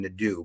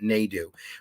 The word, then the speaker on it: Nadu: was Jeff Nadu NAU I keep calling him Nido but he pronounces it na do where we discuss all